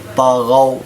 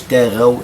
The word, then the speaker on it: طغوا: الاستعلاء، قد خص ضغط، طغوا، ما نقولش تاغوا لأن إذا نطقت الطاء مرققة تصبح تاء.